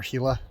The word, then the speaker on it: Gila: and four people do the Gila or hila alternate as it's pronounced correctly so I only know